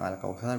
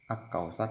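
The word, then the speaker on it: الكوثر: Yang al-kautsar bukan ak-kautsar tapi al-kautsar. Nah, karena dibaca jelas sehingga sering disebut dengan idhar qamariyah.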